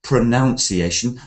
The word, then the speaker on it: pronunciation: creation study English pronunciation notice this word pronunciation it's not pronunciation the verb is pronounce and the noun changes to pronunciation I will teach you